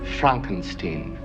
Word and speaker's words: Frankenstein: My name, it's pronounced Frankenstein.